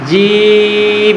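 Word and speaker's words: جيم: জিহ্বার মাঝখান আছে না, জিহ্বার মাঝখান একদম উপরের তালুর সঙ্গে বাঁকা বাঁকা হয়ে লাগবে। কিভাবে? এরকম বাঁকা হয়ে লাগবে, ঠিক আছে? আমি উচ্চারণ করি, আমারটা শোনেন, আমারটা ভালোভাবে শোনেন। জিম জিম জিম জিম জিম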